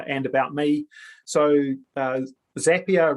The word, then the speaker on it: Zapier: about me so uh zapier rhymes with happier uh just uh for for quite a few years i called it um zapier but uh apparently i